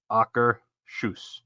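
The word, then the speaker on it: Akershus: the official Norway pronunciation she said it's like soccer shoes so you say AER Sho Soaker shoes yeah so AA shoes Sho because you wouldn't say soer shush no it's AER sh okay that doesn't sound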